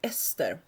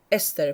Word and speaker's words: Äster: names are created so they rhyme with a direction or similar, for example, in the legend from Ångermanland where the giant is called "Äster". The Swedish word for west is Väster, so that it rhymes with Äster.